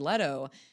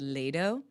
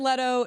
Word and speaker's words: Leto: and I know he was calling him Jared Lo um Jared Leto from okay Jared all right